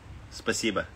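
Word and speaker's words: спасибо: really well how do you say thank you spasiba oh spasiba i knew i knew that yeah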